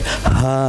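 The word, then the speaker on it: ه: It is just like ha ha ha. Okay? And ha. This sound come from the lower portion of throat.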